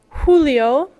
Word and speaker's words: Julio: Mayo H H Julio Julio notice J's are pronounced more similar to H's in English AO Agosto sept sept